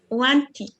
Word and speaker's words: wanted: On peut pas dire tout simplement want. Sinon, il n'y aurait même pas de différence. Parce que l'infinitif c'est want et au prétérit on veut dire want encore. Wanted.